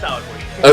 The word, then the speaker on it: Aliquid: And I think you're pronouncing that the right way too, because I hear Aliquid all the time, and I'm like, is it Aliquid? No, yeah, it's Aliquid. Okay, good.